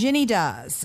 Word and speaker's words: Shinjini: that she's a go-getter girl a go-getter girl shinjini how are you hi Christine and Kate are we pronouncing your name correctly she Shin do shinin do okay that's it's such a lovely name now